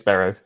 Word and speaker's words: Berrow: everybody spells it wrong everybody pronounces it wrong it's baro baro okay it is